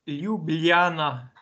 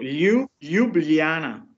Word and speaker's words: Ljubljana: E come si questo legge? Ljubljana, però devi fare un GLI dove è scritto in italiano, metterci la I, ecco, Ljubljana, no?